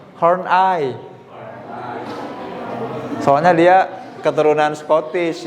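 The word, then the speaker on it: Horney: Ken Kak Ken horni Emang iya horni ini enggak horni Horn eye Hor soalnya dia keturunan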